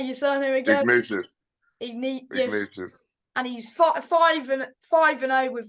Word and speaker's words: Ignatius: Ignatius.